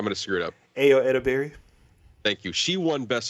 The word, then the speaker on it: Ayo Edebiri: Ayo Edebiri.